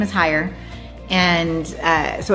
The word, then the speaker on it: Heyer: My my most challenging trail was cutting the trail that I higher anxiety. I named it. Yeah. Well, our last name is Higher and uh so it's kind of a play on words there.